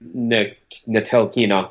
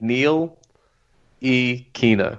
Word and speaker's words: Ntilikina: You don't even look at the T. Forget the T. It's a just think Neil E. Kina. That's it.